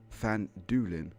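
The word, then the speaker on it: Phandalin: the nearby human town of fanned Allen pronounced fan Doolin okay thank you book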